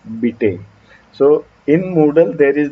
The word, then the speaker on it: Bite: times it happens that people pronounce my name as bite or by day or something like that because it sounds like it spells like bite right bipe but it's beta so in moodle there